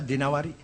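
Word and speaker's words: الدينوري: Al-Imam As-Siyasi Ibn Qutaibah Ad-Dinawari. Jangan Ad-Dainuri bacanya, Dinawari. Jangan Ad-Dainuri, nggak ada kota Dainur, ada Dinawar. Al-Asma'i, nggak ada Asma'i, Asma'.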